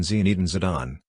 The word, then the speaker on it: Zinedine Zidane: Zinedine Yazid Zidane OLH, AOMN French pronunciation Zinedine Zidane, born June 23, 1972, nicknamed Zizou, is a French professional football coach and former player who last managed Real Madrid.